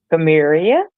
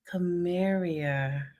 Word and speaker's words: Carmaria: Pronounce it again. Carmaria. Carmaria.